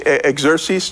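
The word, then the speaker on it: Xerxes: To King Ah, uh, I'm going to butcher this again. It's actually Exeres, too." So, I'm just going to go ahead and use that. That name is is pronounced a couple different way, but King Exeres after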